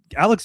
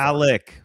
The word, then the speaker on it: Alec: said they want to resign him, but that Alex Pierce is worth 25 million dollars? Are you guys nuts? He is so underrated that Brandon's gotten his name like name wrong like 19 times so far. Alec.